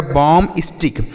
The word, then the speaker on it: bombastic: यहाँ पर B जो लिखा गया ना बच्चों यह साइलेंट होता है, इसे नहीं पढ़ा जाता है, तो सही जो उच्चारण होगा बच्चों यह हो जाएगा बॉम स्टिक।